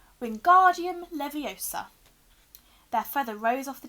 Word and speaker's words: Wingardium Leviosa: having much more luck Wingardium Leviosa he shouted waving his long arms like a windmill you're saying it wrong Harry heard Hermione snap its Wingardium Leviosa make the GAR nice and long you do it then